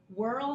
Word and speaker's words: whirl: Whirl has the WH digraph in the beginning. It works together, and it's almost like you don't even hear the H.